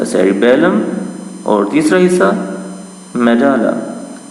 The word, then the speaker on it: medulla: The cerebrum, the cerebellum and द मेडाला। मेडाला, ये मेडुला नहीं है और ना ही ये मेडल्ला है, ये बल्कि मेडाला, इससे भी गलत प्रोनाउंस किया जाता है। तो बेटा इसको आपने पढ़ना है मेडाला।